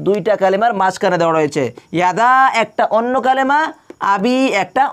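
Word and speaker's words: يَدَا: ইয়াদা, এটা কি মধ্যে মুনফাসিল হবে, আর এটাকে 3 আলিফ করে টেনে পড়তে হবে। তাব্বাত ইয়াদা, এরকম করে 3 আলিফ করে টেনে পড়তে হবে।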